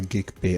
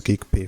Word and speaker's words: Geegpay: you want to use geek pay for or gig pay I prefer to call it geig pay all right so you can pronounce it as you want so you select on